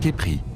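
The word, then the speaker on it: Khepri: dans l'ancienne langue égyptienne le mot scarabé se prononce Kepri ce qui signifie développement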